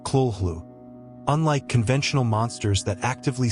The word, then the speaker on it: Cthulhu: Cthulhu itself was intentionally crafted as a word beyond human speech without a truly correct pronunciation. Though Lovecraft once suggested it sounded something like Kulhlu.